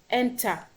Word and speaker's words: enter: is on F okay Enter the stress is on T it's not on the